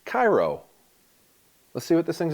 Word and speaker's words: Kairous: They say that's pronounced Kairous.